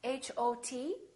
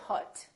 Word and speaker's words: hot: example the word hot h o t we don't say Hut we say hot it's pronounced exactly as the a in the words father or army or watch so the O and